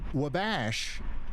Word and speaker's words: Wabash: Charlie sent a $100 super chat and says, "For the love of God, wabash is pronounced like wall bash with a silent L."